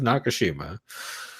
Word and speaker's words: Nakashima: I went with the second pronunciation, and then I realized, nope, it is Nakashima.